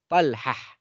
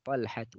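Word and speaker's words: طلحة: Kita tahu kalau tak marbutah ini diwakafkan, dia bisa dibaca ha. Ya, jadi bisa kita baca Hamzah, Talhah, Usamah, Muawiyah, Ikrimah. Ya, kalau dia wakaf. Ya. Tapi kalau tidak wakaf ya kita baca taknya Hamzatu, Talhatu, Usamatu, Muawiyatu, Ikrimatu.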